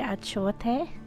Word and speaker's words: achiote: I know it's spelled achiote, but as Belizeans we say achiote.